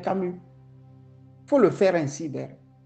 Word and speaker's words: Camus: et c'est un activiste faut prononcer moi mon nom c'est Camu tu sais que je m'appelle Camu faut le faire ainsi